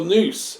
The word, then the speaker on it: nous: Well, nous is the pronunciation of the original. and Nous or nous, whichever Yeah. way you want to say it.